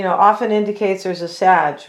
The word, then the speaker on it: Sag: and she said that people were mispronouncing Sag, and they were saying sage, and then she was saying it's not saggy either.